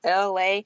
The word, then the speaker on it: LA: It's Freestyle Thursdays with your girl LA, pronounced like LA, like the city.